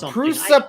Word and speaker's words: Prusa: yeah but I have tried to get our presser printers at work to print them the presser printers usually do fine for utility things but pronounce it correctly he's check the prusa printers at work don't want to print that